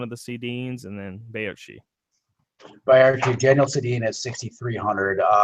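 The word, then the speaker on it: Baertschi: Is it Barchi? Is it Barchi? It's Bayarchi. Okay, Bayarchi.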